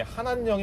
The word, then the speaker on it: 한한령: 않을까, 이런 얘기도 나오는데, 참고로 한한령을 한한령이냐 한한령이라 발음하시는데 국립국어원에 저도 물어봤더니 한한령이 맞다고 하네요. 예. 네, 어쨌든 한한령.